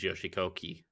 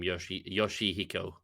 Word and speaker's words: Yoshihiko: Speaking of Japanese wrestling, have you ever heard of Kota Ibushi versus Yoshikoki? No. So I've also butchered that person's last name, Yoshihiko.